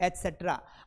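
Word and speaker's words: et cetera: ये ईटीसी नहीं है। ये इसका पूरा फॉर्म होता है एसेट्रा। मतलब जो सी है ना इसको सेट्रा कहा जाता है।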